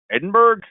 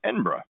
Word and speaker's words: Edinburgh: do you just say is it a pronounced Edinburgh similar to the way we pronounce Pittsburgh now only if you're a tourist and then there is also those who pronounce it as n borrow what's the sound like a local you can pronounce a capital city is Edinburgh or Edinburgh it'll begin your journey